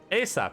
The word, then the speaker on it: ASAP: response is yes sir ASAP pronounced a sap uh an acronym of as soon as possible play stop cease belay